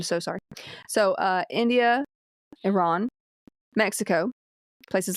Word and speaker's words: Iran: think like in India Iran is it Iran or Iran Iran Iran if you're going to pronounce it correctly oh thank you I